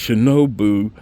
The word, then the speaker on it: Shinobu: excuse me from earlier cuz I know I did mispronounce it but it's shinobu Japanese 10-year-old whiskey all